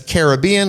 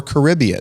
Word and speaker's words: Caribbean: It's Caribbean or Caribbean. You know, there's two ways to say it, but my mother-in-law cannot say Walmart.